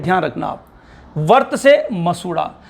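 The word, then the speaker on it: वर्त्स्य: और मसूड़ों को संस्कृत में वर्त से बोलते हैं, बहुत सारे वत्सर्य भी बोल देते हैं, लेकिन सही उच्चारण वर्त से होगा, वर्त से।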